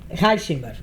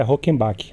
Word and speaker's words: Reichemback: o publicitário e diretor da agência Mona, Heisenber. É assim a pronúncia?